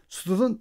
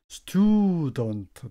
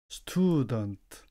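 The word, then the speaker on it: student: 선생 발음은 teach 선생 그다음에 스튜ud던트 요거 발음을 때 많은 사람들이 어려워하시는데 스튜던 아니고 스튜던트 튜를 좀 길게 해 주시면 좋습니다. 스튜던트 학생 그다음에 아메리카 아메리카는 우리말이고요.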